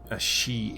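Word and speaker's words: sídhe: rested in death thus the she or the she'd in old irish pronunciation means something like the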